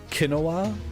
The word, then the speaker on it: quinoa: way like a like a complete idiot quinoa quinoa no qu quinoa it's going to be quinoa